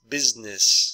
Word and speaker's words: business: bargained and uh business business so really you're just pronouncing two syllables business choices choices so